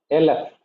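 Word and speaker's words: אלף: LF not alf. It is LF meaning thousand.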